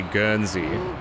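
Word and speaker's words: Guernsey: can also be called a gernzie which I think is spelled like g e u r n s e y.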